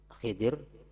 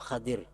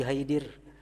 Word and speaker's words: Khidir: Ada dua macam cara membacanya, Khidri, Khidir, atau Khadir. Nabi Khadir atau Nabi Khidir, jangan Nabi Haidir. Nabi Haidir kalau ada, Khidir atau Khadir.